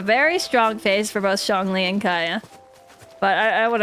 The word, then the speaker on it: Zhongli: It's more of an O sound. Let's see again. Zhongli.